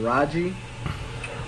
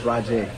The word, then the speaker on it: Rajay: It's not Raji, Raja, or Raja. It's Rajay. Thank you, Rajay.